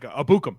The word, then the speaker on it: Ebukam: His pronunciation there I learned the other day and I've already forgotten. It's like Abukum. It's Abukum.